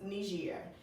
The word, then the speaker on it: Niger: So they called it nigger, but it's actually pronounced Niger.